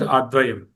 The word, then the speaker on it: अद्वयम्: It should be understood as advayam. Right? Pronunciation, you say lakshate dvayam, but there is a there, advayam.